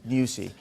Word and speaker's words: Nyusi: What do we know of the potential incumbent, Felipe, how do you pronounce it, Nyusi? Nyusi.